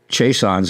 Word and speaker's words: Chaisson: there's a lot of Chaissons, and it's pronounced Chaisson in French Canada and in Louisiana.